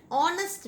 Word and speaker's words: honest: This M pronounced as vowel sound, A. So you put the article an. An honest man, not you read this word honest man,